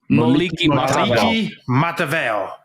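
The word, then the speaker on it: Moliki Matavao: Moliki Matavale.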